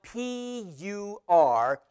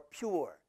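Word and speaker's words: πῦρ: You know the Greek word for fire is spelled P-U-R, pur or pure.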